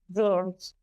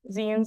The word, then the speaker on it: zine: Pronounced as in magazines, zines are generally described as